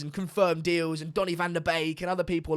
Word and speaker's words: Van de Beek: Everyone's getting in about how I say Van de Beek. That's just how you say it. Yeah, it's Van de Beek.